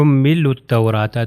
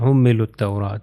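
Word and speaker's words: حملوا التوراة: ہو جائے حملوا التوراۃ۔ تو اس ایگزامپل میں آپ نے کیا دیکھا کہ اس ایگزامپل میں 4 ایسے حروف ہیں کہ جو لکھے گئے ہیں، جب دو ورڈز آپس میں آ گئے تو 4 حروف ہیں جو لکھے جا رہے ہیں مگر اس کی پروننسیشن نہیں ہو رہی، اس کا تلفظ نہیں کیا جا رہا، حملوا التوراۃ۔ اب ہم چلتے ہیں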